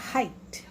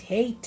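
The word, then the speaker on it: height: ठीक, इसी तरह से इसको बोलते हैं हाइट, हाइट, हेट नहीं, हाइट।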